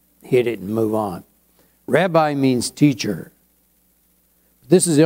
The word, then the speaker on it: Rabbi: whatever you want to say it's more commonly Rabbi is used more common than anything we call it Rabbi really the correct pronunciation is rabi but since no one says that I'm not